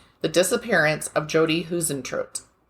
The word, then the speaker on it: Huisentruit: to say her name The Disappearance of jod hen tro it's spelled h UI s n t r UI